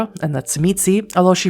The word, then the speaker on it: Tzimisce: Levash gives Ray a way to contact him, and on his way out, Ray turns to Julia and tells her it's pronounced Tzimisce, before heading back to Drexler, still waiting in the cab.